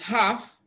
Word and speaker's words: half: Then option D is half. Even though we have L in half, L is silent.